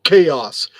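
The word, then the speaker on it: Kaos: not no it's not it's called liber chaos chaos spelled with a k k-a-o-s yes da puma it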